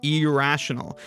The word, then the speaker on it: irrational: this potential for confusion when I pronounce this word I really lean into the ey I hardly even pronounce it as an I I use more of an e sound I say